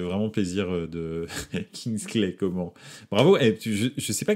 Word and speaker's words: Coman: pas si on m'appelle comman ou comment je m'en fous mais son vrai nom c'est comment donc voilà pour savoir